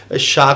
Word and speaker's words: शाह: शाह को हम सा भी बोल देते हैं।